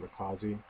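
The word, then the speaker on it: Rakoczy: Prince of the House of Rakazi. That's how Mother pronounced it, Rakazi.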